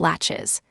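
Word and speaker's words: laches: Then there's the doctrine of lashes, pronounced latches.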